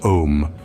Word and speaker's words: Om: volume 3 page 93 these three letters which are pronounced om refer to the deity